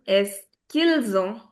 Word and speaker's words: est-ce qu'ils ont: So, the pronunciation will also become est-ce qu'ils ont? Est-ce qu'ils ont? So, apostrophe links the sound.